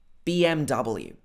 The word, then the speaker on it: BMW: BMW. This one's nice and easy, but watch the pronunciation of W. So to have the L in it. Double. Don't say W. It should be W.